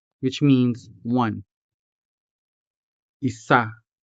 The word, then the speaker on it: isa: For example, isa, which means one. Isa. The stress falls on the second syllable. So we say isa, isa.